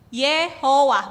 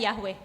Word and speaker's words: Yehovah: Yehovah, bukan Yahweh.